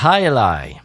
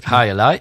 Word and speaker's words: Jai Alai: La High Ally. Ouais, c'est assez facile à prononcer. Et donc, High Ally, oui, complètement, oui.